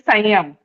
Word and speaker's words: Sanyam: It is written as some yama, but its pronunciation is Sanyam.